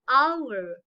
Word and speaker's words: hour: have to use and while this h will sound like a vowel such as an owner will not say honor that time it will be wrong pronunciation it will be what an honor an hour an honest man so whenever you release